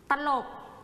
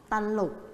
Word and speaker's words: ตลก: จำ ได้ นะ คะ ว่า คำ ควบ กล้ำ แท้ นะ คะ เวลา ออก เสียง เนี่ย เขา จะ เสียง พยัญชนะ ต้น นะ คะ ควบ กัน หรือ ว่า กำลัง กัน นั่น เอง นะ คะ เขา จะ ไม่ ออก เสียง เป็น ส่ง พยางค์ นะ คะ พอ ร้อง เสียง คำ